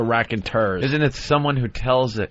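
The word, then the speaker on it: Raconteurs: of it e RS I believe it's tours prob rack and tours R that's what I thought it is an oldie word cuz it's far as my English studies go that's how I would pronounce that word but I was told that last minute no I'm sure it's the rack and tur isn't it someone who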